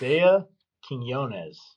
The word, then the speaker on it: Isaih Quinones: Because I have heard some crazy pronunciations of your name. Yeah, it's Isaih Quinones.